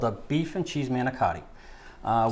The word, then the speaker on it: manicotti: a beef and cheese manotti uh we say it right manotti okay manotti we've already um Cooked